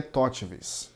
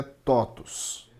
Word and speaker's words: TOTVS: sobre o que é Totvs na verdade a pronúncia correta é totus totus então vamos falar sobre